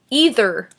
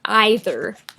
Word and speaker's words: either: The next word is either or either. I say either, but either or either.